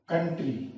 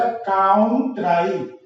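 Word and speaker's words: country: COUN काउन अगर पढ़ोगे जैसे उसकी तरह जैसे नाम पढ़ते तो निकलेगा काउंट्राई, COUN TRY। लेकिन ये नाम की तरह नहीं पढ़ा जाएगा, ये जैसे पहले से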